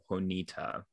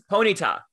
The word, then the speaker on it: Ponyta: julian because julian had caught a ponita and it's ponyta ponyta oh my god i've been saying it wrong for 30 years um